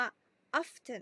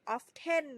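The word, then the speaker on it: often: 3 คือ คำ ว่า ออฟ ชั่น โน้ ท ออฟ ชั่น ก็ ไม่ ออก เสียง of เต้น นะ คะ ออฟ ชั่น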